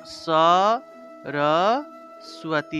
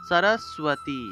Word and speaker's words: সরস্বতী: এভাবে আমি এখানে লিখে দিই, উচ্চারণ হবে স র স্বতী, দন্তের স নিচে বফলা থাকায় সু উচ্চারণ হবে সরস্বতী, এইভাবে সরস্বতী উচ্চারণ।